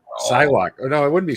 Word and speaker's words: Psylocke: It's I pronounce it Pylock, but I'm not the best at pronouncing things. I think it's Psylocke.